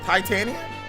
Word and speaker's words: Titania: there's literally an a at the end of it it's tan tan tania the last part is tania so it's hi tania titania enough chitchat you